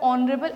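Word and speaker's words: honorable: उसके आगे एन इसलिए आ रहा है क्योंकि जब हम लोग उसे प्रोनाउंस करते हैं तो उसमें हम लोग को एच की साउंड नहीं आती, हम लोग को ओ की साउंड आती है, और ओ एक वॉवेल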